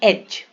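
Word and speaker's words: edge: ध्यान देंगे अब देखो अब डी वाले साइलेंट डी में जी के पहले अगर डी है है ना जी के पहले ज एज आप कोई भी एक शब्द अगर याद करके रख लोगे तो आपको हमेशा हेल्प करेगा एज इसको एडज नहीं पड़ेंगे बजट बजट रिज रिज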